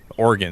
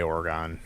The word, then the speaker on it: Oregon: People say Oregon. I say Oregon. It's not correct. Even though it's spelled like Polygon, I swear to God, it should be. That's how you should pronounce it, but it's not correct.